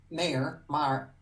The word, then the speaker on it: Mayer: Mar rhymes with star.